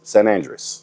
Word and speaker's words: San Andrés: So for all you cigar smokers out there that has been mispronouncing it, it's San Andrés.